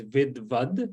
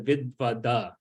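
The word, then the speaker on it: विद्वद्: No, it's just the has the line underneath, so it's not so it's Vidvad instead of Vidvada. So it's just reducing that, getting rid of that akara.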